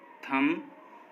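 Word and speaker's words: thumb: जब भी एम के बाद बी आएगा तो वो साइलेंट रहेगा। जैसे कॉम, बॉम, थम, डम, इन सभी वर्ड्स में देखिए एम के बाद बी आया है और जब भी किसी वर्ड में एम के बाद बी आता है तो बी साइलेंट होता है।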